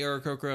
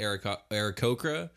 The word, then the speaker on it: Aarakocra: I actually don't know how it's pronounced, so I think I've been pronouncing it Aarakocra, but then someone pronounced it Aarakocra, and I was like, that kind of makes sense. They are bird people, and a cock is a male chicken, so maybe the inflection is just all wrong.